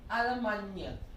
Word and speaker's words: Allemagne: Listen carefully. Allemagne. Now, one of the few French words where the double L is actually pronounced, right?